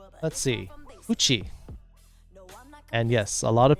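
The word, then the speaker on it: 口: weird things be back all right let's see coochie and yes a lot of people are like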